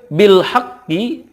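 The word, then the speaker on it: بالحق: Lanjut, bil haqqi, ketika waqaf dibacanya bil haqq. Karena qaf ini ada qalqalahnya, ditekan kemudian dipantulkan. Bil haqq.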